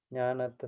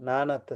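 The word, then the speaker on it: nānatta: That is jnanatta sanya, nanatta sanya. Oh yeah, that I was pronouncing it wrongly. This is nana. Nanatta is diversity or variety.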